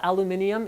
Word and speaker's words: aluminium: my pronunciation of aluminum yes i know aluminium is also correct but it should be